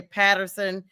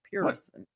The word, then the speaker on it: Pearson: They'll say Patterson, Peterson. They'll miss. I'm like, listen, just please pronounce what's there. Pearson? Pronounce what's there. Pearson.